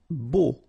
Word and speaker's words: beau: Beau. Okay, so remember we've got this strange combination of vowels, E, A, U, so three vowels, but then phonetically it's only O.